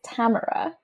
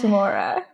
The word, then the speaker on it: Tamora: a confusing thing and it technically is Tamara Oh my God but everyone says Tamora yeah I grew up I grew up saying like I I'm glad to know it's Tamara but like I don't